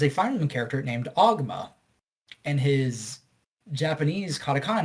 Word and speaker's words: Ogma: But there's a Fire Emblem character named Ogma, and his Japanese katakana name is Oguma. All right. So in the English dub, they say Oguma, even though every game in English like spells Ogma.